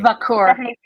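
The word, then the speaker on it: Vaquer: Vakur.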